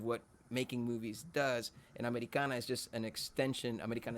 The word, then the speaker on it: Ameri'kana: our career that we named our album americana but the way you would pronounce it in spanish americana to remind folks the